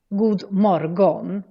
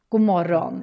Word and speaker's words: god morgon: bit interesting with god morgon is that the pronunciation is a little bit weird. You might want to read it as god morgon, but we actually say god morgon instead, which almost sounds like an insult in English.